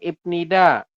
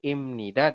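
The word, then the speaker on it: 입니다: Bukan ibnida, bukan gongbu hapnida, tapi imnida dan gongbu hamnida.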